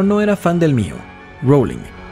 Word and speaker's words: Rowling: era fan del mío rowling la primera sílaba se pronuncia el robo como boat en lugar del rap como argumento que se prestaba a